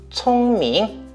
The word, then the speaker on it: 聪明: 자, 그러면 내가 생각하기에 我觉得 돌고래는 하이툰 너보다 비니 똘똘하다 총밍. 자, 이렇게 하면 되는 거예요. 자, 제가 한번 발음하겠습니다.